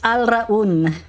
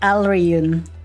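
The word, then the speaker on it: Alraune: No, it's Alraun, not Alreun.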